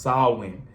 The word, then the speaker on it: Samhain: before it was called Halloween it was called sawin It's pronounced it's it's pronounced when you look at it it looked like it's spelled a different way or it said a different way but it's really pronounced SN now it was a a day that people